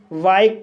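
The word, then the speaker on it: bike: बी को बा पढ़ा जाएगा, आई को आई पढ़ा जाएगा, के को का पढ़ा जाएगा, ई साइलेंट रहेगा। इस तरह से बाइक पढ़ा जाएगा और बाइक मीन्स मोटर गाड़ी।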